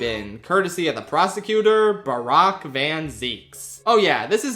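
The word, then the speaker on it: Barok: says his name, it's apparently pronounced Barack, like Barack Obama.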